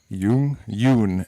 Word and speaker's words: Jung: Jung actually is, I think, the... proper pronunciation.